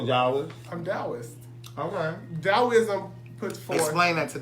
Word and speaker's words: Taoism: It's T-A-O-I-S-M. Taoism, but it's pronounced with a D.